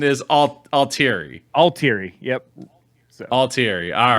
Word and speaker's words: Altieri: but uh so but anyway and the correct pronunciation is all altery all teary yep all teary all right cool thank you